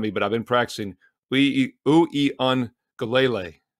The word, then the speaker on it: Uiagalelei: Uiagalelei, 6 syllables. Uiagalelei, how do you like that, is the quarterback.